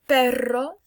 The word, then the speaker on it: perro: This one you roll your R, perro, and this is perro.